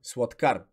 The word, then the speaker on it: сладкар: като а следващ пример сладкар тук се пише а но се изговаря ъ защото ато не е под ударение сладкар за да